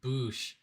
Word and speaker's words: Bouchard: up bouncing off says my name is bouchard that's where the the bush in oh i see booshing off comes in i know it sounds dirty but i like it lol pronounced boosh i thought your name was